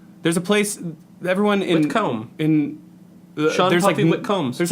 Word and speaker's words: Whitcomb: Yeah, Whitcomb. You pronounced it right.